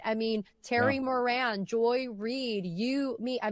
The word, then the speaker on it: Moran: Uh Terry Moran, who you could pronounce that I guess, but no, it's Moran.